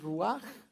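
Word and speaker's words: רוח: es la palabra que la palabra rúa se escribe de esa forma en hebreo pero su pronunciación Pues sería algo más como esto que es ruaj verdad y los vamos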